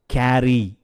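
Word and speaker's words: carry: hope hope எடுத்துக்கொண்டு போ கேரி கேரி இங்க ரெண்டு ஆர் வருது அதனால கேரி அப்படின்னு நம்ம அழுத்த வேண்டியதில்ல கேரி யூகம் செய் அஸ்யூம் அஸ்யூம்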